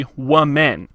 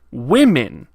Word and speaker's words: women: you oh well then the plural must be one men that actually it's more like women why do your ward